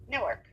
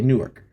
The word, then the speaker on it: Newark: N-E-W-A-R-K. Newark. Okay, Newark. For the life of me, it was N-O-R-K. Newark. If you're from Newark. Yeah, that's from Newark.